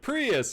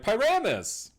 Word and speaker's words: Pyramus: So she'll be like Prius, and you'd be like Pyramus, like just literally like right like over her almost.